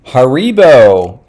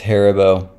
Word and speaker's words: Haribo: I mean, it's German. It's going to be on the first syllable.